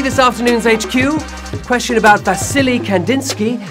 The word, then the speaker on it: Vasily: Question about Vasily Kandinsky, whom I heard myself mispronouncing as Valacy and then still made a joke about his name having silly in it.